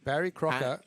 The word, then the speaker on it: Barry Crocker: Barry Crocker. Yeah. rhymes with shocker and that's the rhyming slang.